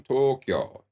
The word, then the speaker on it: Tokyo: they'll pronounce the Japanese cap battle with three syllables it only has two Tokyo and it's a lot if the toe is long Tokyo the kill is shorter than the old in oh uh Tokyo a lot of Americans will say Hiroshima when